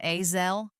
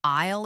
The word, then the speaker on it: aisle: but he pronounced it hey zel with a hard s sound just like he had read it.